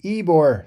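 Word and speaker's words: Ybor: there cuban style and it's pronounced ibor city there you go uh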